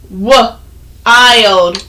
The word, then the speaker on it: wild: It's a long I phonics pattern, but there aren't many wordsies that end with ild. Okay? So, for example, one word is this word. This word is wild.